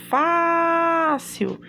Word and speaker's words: fácil: Eu tenho a palavrinha fácil e eu já, quando falo fácil, eu sei que Fá é a sílaba tônica e eu classifico logo ela, paroxítona, é a penúltima sílaba que é mais forte.